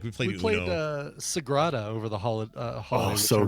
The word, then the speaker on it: Sagrada: How do you spell it? How do you say it? Sagrada. Sagrada.